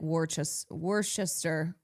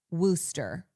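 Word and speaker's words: Worcester: Yeah, I want to say it like Warchester wor. See, that's when English words I go, what's happening here? W O R C E S T E R Wooster.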